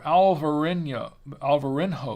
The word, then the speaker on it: Alvarinho: The Albarino grape, or Alvarinho grape. That's the Portuguese pronunciation.